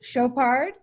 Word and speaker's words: Chopard: And also, my fault, I should have told Alex, my last name is French, so it's pronounced Chopard, and my company is Chopard Consulting.